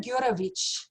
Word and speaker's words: Gurevich: name the south african girl is going to pronounce his russian last name so it's gurovich that's correct that's perfect wow that's a lot